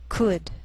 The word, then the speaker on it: could: sheal it wheel Veil sometimes L can be silent so you have to be careful the first five words listed below are very common so let's take the time to make sure that you're pronouncing them correctly listen and repeat after me talk walk could should